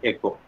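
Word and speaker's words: οἶκος: Derived from the Greek word echo, O-I-K-O-S, pronounced as echo.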